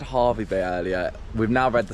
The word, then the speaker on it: Hervey Bay: So, it is Harvey Bay. Sorry for all this confusion at the last minute, but it's Harvey Bay. Why? It's spelled like that.